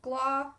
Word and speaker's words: Gloucester: english so you'll notice that it is just gla so go to the o and then pretend you can't see the rest of the word and